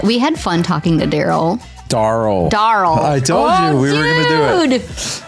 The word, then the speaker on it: Daryle: But this season, we are chatting with Daryle Sturino. It's like Carl, but with a duh.